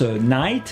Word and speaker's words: knight: mot qui se prononce knight et qu'on a vu tout à l'heure le chevalier night donc ici le cannes se veut se prononcent pas et le g non plus knight on a aussi